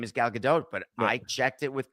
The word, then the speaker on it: Gadot: was the announcer incredible did he say galgadot yes do I have her last name wrong no no you're right gal gdau is correct and he screwed it up